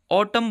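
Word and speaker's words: autumn: पर साइलेंट होता है अगर एम और एन एक साथ आते हैं यानी कि एम के बाद एन आता है तो उसको हम मैं पढ़ते हैं जैसे कि ऑटम में एम और एन एक साथ है नहीं बोला जाएगा ऑटम बोला जाएगा यानी कि एन जो है वो साइलेंट रहेगा क्योंकि वो एन के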